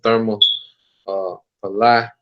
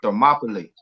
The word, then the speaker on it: Thermopylae: So I'm gonna get the war of Therma Palai, if I'm saying it right. But You say it's called Thermopylae.